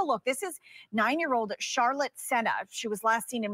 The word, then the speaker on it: Sena: this out there sorry in Mass I pronounce it Cena so I apologize for the pronunciation being wrong just let this add